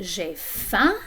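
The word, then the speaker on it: j'ai faim: so i can say jeff and notice that this word the m is silent at the end but it also influences the vowel sound in the middle it makes it nasal m is a nasal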